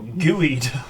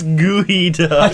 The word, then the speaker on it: geoduck: The world will be your gooeyed. That weird thing that looks like a cock. And it's spelled Geoduck, yeah. That's gooey I duck.